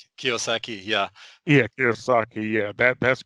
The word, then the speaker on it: Kiyosaki: I think I can never pronounce his last Yeah, name Robert correctly. Kiyosaki.